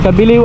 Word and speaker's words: Cabileo: Cabiliw ang basa dyan, ang bigkas, pero Cabileo yung spelling.